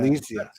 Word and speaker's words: Alesia: Alesia.